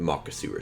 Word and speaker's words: Makasura: I really love the Makasura Shrine. Yeah, that is how you pronounce it.